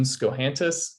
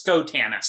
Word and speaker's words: Schotanus: very excited to introduce our guest today scohantis welcome thank you it's a pleasure to be here and it's skotanus oh i did i screwed up the pronunciation